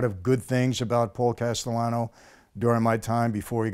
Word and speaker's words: Castellano: man you had a situation with a Paul Castellano yes am i pronouncing it correctly that's correct yes okay and